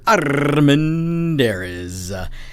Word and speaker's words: Armendariz: And I am, of course, Armendariz. Say it with me sometime, folks. It'll make you happy when you can roll your R's.